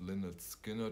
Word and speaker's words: Lynyrd Skynyrd: great job first edition we talked about is pronounced lynette skinner first album those additions are all 45 rounds